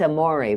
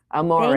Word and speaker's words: Amore: It's Amore, by the way. Like, Amore. It is. Amore. Thank you. Spelled like Amore, but it's Amore. Amore.